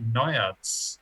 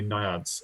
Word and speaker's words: naiads: tried out the naiads which we think is the right way to say it because apparently that second eye is a little bit silent yeah it's not naive yeah no it's not it's not it's definitely naiads and yeah they were